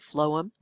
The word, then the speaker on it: phloem: to remember that is the f sound at the beginning of phloem phloem in food goes together and that concludes the